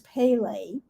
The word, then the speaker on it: Pele: think her name uh the way you pronounce her name is pele and she's a hawaiian